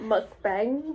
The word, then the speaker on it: mukbang: want another story time my husband told me I was saying wrong that it's not mukbang mukbang Mustang that's how it's spelled that's how its remit